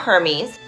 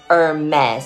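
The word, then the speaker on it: Hermès: homies no no no it's not hermes it's hermes say hermes oh may this leave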